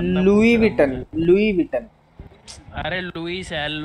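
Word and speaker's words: Louis Vuitton: दे improper रहने दे उसको बोलते लई विटन नहीं लुई विटन ही बो जाने दो जाने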